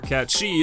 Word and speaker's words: Cait Sith: And that brings us to Cait Sith, or Cat Shi if you prefer the proper pronunciation, who I will admit is a character I've never liked.